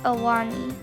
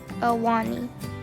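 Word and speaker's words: Ahwahnee: Dewey Point, and the Awani. It is spelled, this one, it's a kind of weird spelling. It's spelled like A-H-W-A-H-N-E-E, Awani, something like that.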